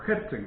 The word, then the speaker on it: Herzen: Lo que decía Gertsen, o Herzen, como ustedes quieran, Gertsen es la pronunciación rusa, de Lermontov, en el mismo libro del que acabo de citar, es lo siguiente.